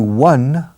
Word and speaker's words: won: When was the last time you won? Se pronuncia igual que el número uno.